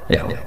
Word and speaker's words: Yahweh: Yahweh. Iku nak teng ejaan Latin Y besar A H besar W E H besar Yahweh.